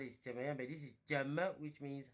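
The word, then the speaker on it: 怎么: This is the complete one is Jemayang, but this is Jema, which means how. Not Shema. Please be careful.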